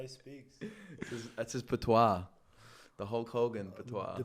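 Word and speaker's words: patois: But that word is also po, which is like the Rostafarian dialect.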